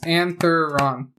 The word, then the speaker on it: Antheron: ruins of anthon anthron antheron antheron make it three syllables antheron antheron yep all right